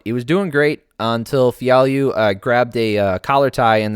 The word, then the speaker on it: Fialho: So Fialho, Andre Fialho is how you pronounce that name, versus Miguel Baeza, Caramel Thunder.